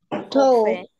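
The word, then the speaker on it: coffre: piratas guardan sus tesoros cofre cofre muy bien es un cofre en español en francés esto lo vamos a decir cof cof es una pronunciación nasal con gutural al final luego dice establecimiento comercial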